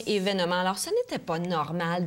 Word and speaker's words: événement: bien au courant que le mot événement voyons é se prononce toujours événement et la la la prononciation selon les dictionnaire c'est bel et bien événement alors ce n'était pas